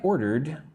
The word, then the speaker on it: ordered: Yesterday, I ordered grilled fish at the restaurant. Let's look at the word ordered. I say it like it has 2 parts.